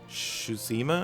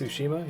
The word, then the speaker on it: Tsushima: I definitely want to play is ghost of susima I think is pronounced Tsushima yeah that just looks freaking amazing so yeah